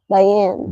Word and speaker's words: Diane: She said Deanne though. Like that's Yeah. don't matter. I But guess like so in English, it's like die. Diane. Di is die.